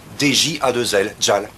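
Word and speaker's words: Djal: Ça s'écrit J-E-L. Gel. Non, Jelly peut-être. Tiens, ton café. Merci. Ah non, c'est... DJ à deux L, Jal.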